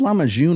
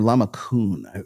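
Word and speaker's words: lahmacun: It's called Lamajun or Lamakun. It has different pronunciations depending on where you're at.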